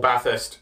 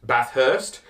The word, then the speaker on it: Bathurst: that called Baathist Bathurst there's only one H it's part of the th for bath it's Bathurst Bathurst the H is already used is it's if you were gonna pronounce the hard H it would be Bathurst not Bathurst yeah you're adding an